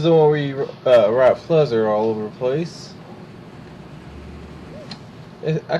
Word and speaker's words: Fluzzer: So, this is the one where you write Fluzzer all over the place. I keep thinking it says, but not. Like, I don't think it says buzzard. It rhymes with buzzard.